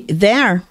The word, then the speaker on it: there: Se você pronuncia, meu querido, eh, e você vai ouvir there, talvez você entra pronúncia de lá, tá? A dica é a mesma pronúncia de lá que é der e der deles.